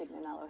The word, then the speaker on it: Tignanello: Pronounced Tignanello here in the Tignanello.